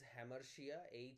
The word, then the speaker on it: hamartia: Number 1, what is হ্যামারশিয়া? HAMARTIA, হ্যামারশিয়া।